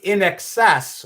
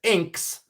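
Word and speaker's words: INXS: They pronounced in excess when they read it as inks.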